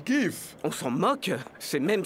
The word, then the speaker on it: GIF: coach à vrai dire ça se prononce gif on s'en moque c'est